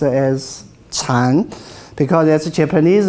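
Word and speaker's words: 禪: turning english dictionary now but original world is pronounced as chan because as a japanese mispronunciation of chinese will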